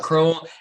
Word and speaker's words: Crowell: crowe pro you say chrome it's chrome like bowl but uh similar to